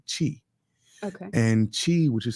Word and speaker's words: Qi: So to start off, Qi Gong, which is pronounced like cheese without the SE, Qi.